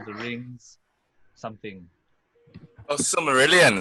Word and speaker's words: Silmarillion: And number 5 and number 1, we're going to go with let's see, how do you pronounce that? Similarian.